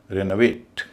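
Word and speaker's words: renovate: आर इ एन का बच्चों का रेन होगा। वी ए टी का वेट होगा। और बीच का जो हिस्सा उसका उच्चारण अ हो जाएगा। रेनोवेट इसी तरह कैलकुलेट सी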